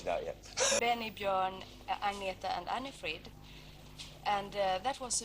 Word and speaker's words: Agnetha: How do you pronounce Agnetha? Is that right? My name is Agnetha.